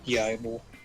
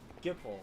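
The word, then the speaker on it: Gippal: I just need to talk to Gable. Gable, how do you say his name? Gable. Yibel. Gamble. The guy's name. Hey, it's Sid's little girl. Oh, Gipple.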